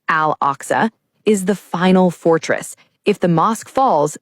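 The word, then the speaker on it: Al-Aqsa: For the Islamic world, Al Oxa, pronounced Al Oxa, is the final fortress.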